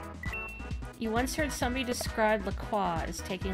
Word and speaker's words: LaCroix: It's officially pronounced LaCroix.